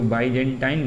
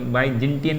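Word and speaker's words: Byzantine: वैसे बाइजेंटाइन ही बोलते हैं, कुछ लोग तो बाइजेंटियन भी बोलते हैं।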